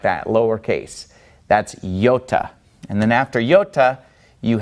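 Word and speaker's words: iota: moment Yoda Kappa lambda now yota if we were to pronounce it in slow motion would be yota yota and it makes an e sound because it starts on an e yota yota so that one is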